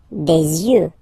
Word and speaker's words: yeux: Des yeux, des yeux, des yeux. You, okay? Don't pronounce the final X as usual.